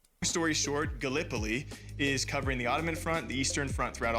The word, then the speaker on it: Gallipoli: right because being from Iowa, I said uh Galipoli and it's it is pronounced Gallipoli.